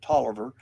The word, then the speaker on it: Taliaferro: Um, John Taliaferro, some people pronounce it Tolliver, um, actually lived in Spotsylvania County along with William Hansford and William Bledsoe and John Waller.